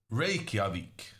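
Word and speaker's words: Reykjavík: um I think uh based on a islandic professor on YouTube the correct answer is ravik uh anyway uh we're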